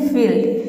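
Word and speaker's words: field: For example जैसे कि है फील्ड, यहाँ पे देखिए एक का हो जाएगा फॉ, आई ई का हो जाएगा ई, एल का हो जाएगा आधा ल, डी का हो जाएगा ड।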